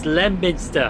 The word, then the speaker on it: Leominster: You see, spelled Leominster, but it's Lemminster. It is Lemminster.